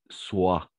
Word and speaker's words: soit: La combinaison de voyelles O et I, on va prononcer comme un OUA. Donc, on va tout simplement prononcer soit.